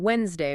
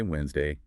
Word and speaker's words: Wednesday: Wednesday, what's the trap? It's that silent D, isn't it? The classic pitfall. Learners see Wednesday and they try to pronounce every single letter. And they immediately sound like they're reading from a book. Exactly. The lesson gives them the shortcut. Just say Wednesday.